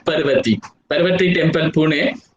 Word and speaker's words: Parvati: Some people maybe pronounce it as the Parvati, but it's called as Parvati.